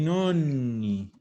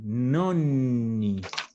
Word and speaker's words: nonni: I nonni. Acuérdense siempre de la pronunciación. Nonni. Nonni. Porque nonni significa abuelos. Si yo digo nonni, estoy diciendo novenos. ¿Ya? Con una N es otra cosa.